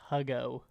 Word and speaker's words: Hugo: against that um uh his name is pronounced huggo oh sorry hugo oh